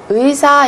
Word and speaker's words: 의사: 의사 is doctor in Korean. Doctor in Korean. 저는 의사입니다. 저는 의사입니다. So this syllable is a little bit difficult to pronounce. 의, 의, 의사.